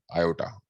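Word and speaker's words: iota: इसी को Euler uncle ने बोला कि आप इसे आई ले लो, आई for imaginary unit, pronounce as, very good, आयोटा, pronounce as आयोटा।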